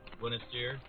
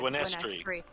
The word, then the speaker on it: Gwyneth: He's gonna, jog over in the snow over to, Gwyneth's. Did I say it right? No, it's Gwyneth's. So think of it like Gwen is tree.